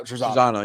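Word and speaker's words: Trizano: Trezano, yeah.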